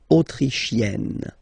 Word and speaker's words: autrichienne: So same thing here, you get E and then double N, you open the E, E, autrichienne.